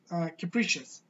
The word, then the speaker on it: capricious: knee cap reasoning but in the English language that's gonna be that's gonna be a little bit different in terms of pronunciation that's gonna sound like capricious capricious capricious means changing